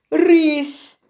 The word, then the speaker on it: рись: Рись. На першому малюнку ми бачимо крупу рис. Є звук си, вимовляється м'яко.